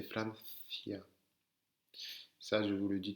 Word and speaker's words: Francia: avec un caramelo, ou elle peut se prononcer aussi th. Attention, c'est pas un s, c'est pas comme un s, c'est il y a la langue qui sort. Ça, d'accord? Donc c'est pas Francia, c'est Francia.